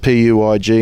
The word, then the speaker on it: Puig: It's a Puig Racing Screens, and it's spelt P-U-I-G and it's pronounced Puig. I think it's a French name.